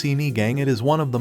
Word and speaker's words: sinigang: sinigun this popular Filipino soup is characterized by its sour taste pronounced sini gang it is one of the most representative dishes